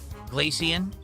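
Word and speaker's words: Glaceon: So, it's like glacier. So, glacian. Glacier. Glacian. Got it. Glacian.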